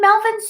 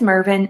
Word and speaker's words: Mervin: And Melvin's so sweet. Melvin. I've been saying his name wrong this whole time. His name is Mervin, and I kept doing that through the movie too.